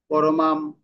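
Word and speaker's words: পরমাং: তাহলে অনুষ্কার থাকলে কি হবে, ম উচ্চারণ হবে। আমরা বললাম না, সংসিদ্ধিম, ম, ম, পরমাম, ম, ম, ঠিক আছে,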